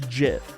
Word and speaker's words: GIF: is J if f with a soft G sound this didn't help at all okay it's pronounced JF like J J I'm